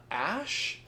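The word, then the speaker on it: Ashe: Uh, Ash. Do you pronounce the E on there? It's just Ash. We're just putting an E on there to be pretentious.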